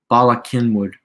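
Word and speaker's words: Bala Cynwyd: it hasn't updated yet bala kenwood oh because okay because the c is silent that makes a lot of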